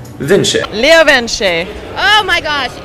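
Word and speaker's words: LeoVince: They're an Italian company, so it's not pronounced like Vince. It's pronounced Vinci.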